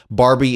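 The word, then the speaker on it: Barby: For the record, for those who are listening in or just everyone, Barbie is spelled B A R B Y like shrimp on the Barbie, which no one in Australia says.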